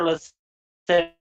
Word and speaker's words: lascivious: report to the 1983 Gregory Allen lewd and lascivious charge, end quote. Did I read that correctly? Yeah, except for lascivious.